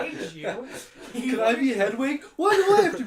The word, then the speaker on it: Hedwig: It's Hedwig.